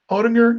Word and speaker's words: Oettinger: That's how you say his name, Oettinger.